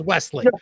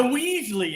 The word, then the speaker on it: Wesley: You got the last name right, but his first name is Wesley. You know why? The Weasley is kind of fun.